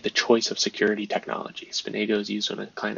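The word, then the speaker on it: SPNEGO: Often pronounced Spanago. GSS API pseudo mechanism used by a client server software to negotiate the choice of security technology. Spinago is used when a client application wants to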